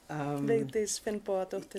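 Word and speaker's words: Vigdís Finnbogadóttir: So tell us what, I can't pronounce her name. Vigdis. Vigdis Finnbogadóttir.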